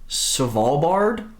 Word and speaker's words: Svalbard: archipelago of and i'm going to try and pronounce this the best i can it's svalbard it's about halfway between mainland norway and the